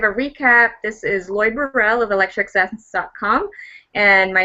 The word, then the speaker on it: Burrell: Well, it's a Scottish pronunciation, but most people say Burrell, but I actually say Burrell.